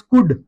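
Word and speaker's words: could: Next word है हमारे पास कुड। कुड में भी एल डी से पहले आ रहा है। तो मैंने आपको बताया एल के या डी से पहले आए तो साइलेंट होता है दोस्तों।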